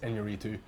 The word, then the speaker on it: Iñárritu: This felt like the natural progression for Birdman's Alejandro Gonzalez Iñárritu, and yeah, I cannot believe that I managed to pronounce his name correctly as well.